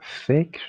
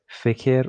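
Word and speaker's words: فکر: There is no Fikir or fikar. It's fikr.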